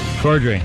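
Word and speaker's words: Corddry: it's Rob Rob Kroy you say his name cordry cordry okay uh I know who he is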